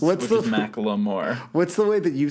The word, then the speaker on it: Macklemore: I've noticed that you pronounce Macklemore the correct way that he wants it to be pronounced, which is Macklemore.